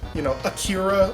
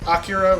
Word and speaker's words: Akira: Like, they were mispronouncing names. They actually said, Akira all the time instead of Akira, which is the correct pronunciation.